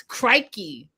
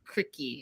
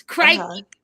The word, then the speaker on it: crikey: And I want to say it's crikey. That's the proper way to say it, even though it looks like cricky. It's crikey. Crikey.